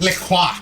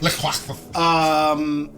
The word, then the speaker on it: LaCroix: It's pronounced Le Croix. LaQuaxis. Lemon LaCroix. Le Croix.